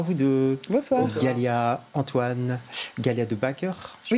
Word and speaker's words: Galia De Backer: Galia, Antoine, Galia de Backer, je prononce bien, ça va?